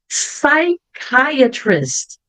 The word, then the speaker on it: psychiatrist: Psychiatrist. Olha aqui a letra CH. Bem diferente do som normal do CH, que a gente vai ver daqui a pouco.